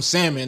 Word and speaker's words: salmon: Niggas talking about some salmon, nigga. It got an L there, nigga. Bro, it's silent. L ain't no fucking silent. What's another word with a silent L?